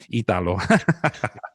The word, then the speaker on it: Italo: and Italo, we went, it's Italo. It's fun to say when you say it right.